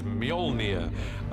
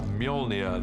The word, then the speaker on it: Mjolnir: The first challenge with a hammer is to work out how to pronounce it, which is Mjolnir in our movie at the moment, until somebody corrects me, I'm sure they will. Mjolnir, the hammer, this awesome weapon for Thor, extraordinarily powerful.